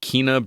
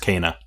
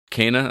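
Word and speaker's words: Kena: available as well we got another look at kinah bridges spirits which releases on the 24th of august now that is pronounced kana kana okay thank you uh returnal releases on april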